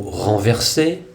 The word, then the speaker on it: renverser: Dans le mot renverser, le deuxième ER est aussi un costume du son E, il se prononce donc E et non pas R.